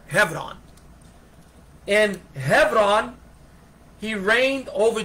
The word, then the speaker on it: Hebron: And Hebron, you know, in the West we say Hebron or Hebron, but in Israel they pronounce it Hebron, with a V as in Victor, Hebron.